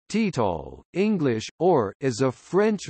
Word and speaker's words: Total: Total SA, French pronunciation, Total, English, or, is a French multinational integrated oil and gas company and one of the seven supermajor oil companies in the world.